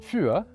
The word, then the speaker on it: für: Bringing back Dutch and German, the German U with umlauts and the Dutch long U are the exact same sounds as the French U. For example, in German you have the words üben and für, which means practice and four.